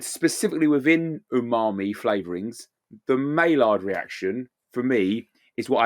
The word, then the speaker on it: Maillard: madame pointedly because I'm assuming from the spelling you've pronounced it uh in your your Romford English uh in a rather avankcular way, but I would imagine that it is the mayard reaction because we're talking about food and culinary skills.